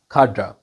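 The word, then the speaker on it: cadre: This is खाड्रा।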